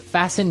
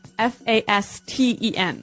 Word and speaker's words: fasten: It's spelled F A S T E N. Right. So, it would be fasten. No. No. Right. Fasten. Fasten. The T kind of becomes silent.